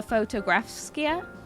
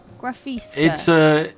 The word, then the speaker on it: Fotografiska: quickly, is we went to the Fotografska. No, is that how you say it? Fotografiska.